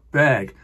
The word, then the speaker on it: Berg: Berg's Violin Concerto albenberg Berg I know I'm pronouncing that wrong it should be more like beg beg that doesn't work for